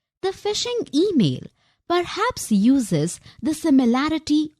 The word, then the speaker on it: phishing: Well, the word fish is pronounced just like fish. The phishing email perhaps uses the